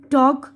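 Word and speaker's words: talk: ये देखिए, इसमें देखिए यहाँ पर बता रहे हैं एल साइलेंट है। हथेली, पाम, काम, सुकून, हाफ, निस्फ यानी आधा, वॉक चलना, फॉक गुरोह इंसानी, टॉक गुफ्तगू, शुड चाहिए, वुड जाएगा, कुड सकना।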